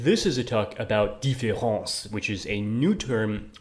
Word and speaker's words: différance: Instead, this is a talk about différence, which is a new term coined by Derrida himself, which ironically sounds exactly the same as the standard word difference, despite being spelled differently.